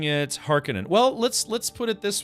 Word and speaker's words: Harkonnen: So yeah, if you think Conan, like Conan the Barbarian, you know that's spelled, what is it? It's like Conan. So if you put har in front of that, it would be like Harkonnen, right?